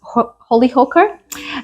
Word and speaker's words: Chällerhocker: So this cheese is called Chällerhocker. It's quite a funny one. It's actually not spelled anywhere close to that, but I'm told on good authority that's how you pronounce it.